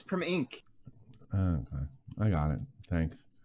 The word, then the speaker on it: Primink: It's Primink.